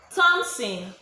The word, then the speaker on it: Thompson: Thompson, the letter P in Thompson is silent.